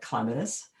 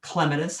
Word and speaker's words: clematis: the case of like clematis it has clematis first then clematis then clematis they're all there and they're all acceptable which is kind of